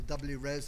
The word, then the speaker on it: WRES: Talk a bit about the Workforce Race Equality Standard, either WRES or RES, depending on how you want to pronounce it, but then mostly to focus on what action we at the CQC are taking.